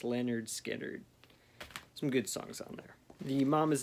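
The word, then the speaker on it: Lynyrd Skynyrd: lou reed transformer classic and uh leonard skinner pronounced leonard skinner some good songs on there the mom is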